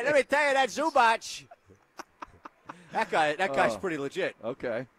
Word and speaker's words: Zubac: Zubats. Yeah. Those ugly pants. I know. How do you pronounce his name? I don't know. Isn't it Zubach? Yep. Hey, let me tell you, that Zubach.